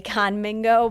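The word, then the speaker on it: Khanmigo: No, I always want to say Kahnmingo, but it's not. It's Kahnmingo. Is like Amigo?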